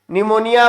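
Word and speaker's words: pneumonia: व्हो believe own निमोनिया निमोनिया में फिर silent है प्लेयर और निमोनिया लाइक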